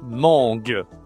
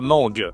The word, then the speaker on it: mangue: C'est la mangue. La mangue. OK. Tu utilises le nez, hein. C'est en la nasale pour la mangue.